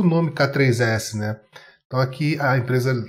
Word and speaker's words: k3s: uma forma longa da pronúncia oficial do k3s é k3s pronto o k8s é a